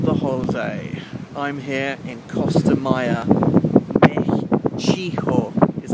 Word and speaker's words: Costa Maya: Baby, I will climb the Costa Maya, Mexico, which is how you pronounce it in Mexico, and I'm here to find the Mayan temple, which I've actually done behind me.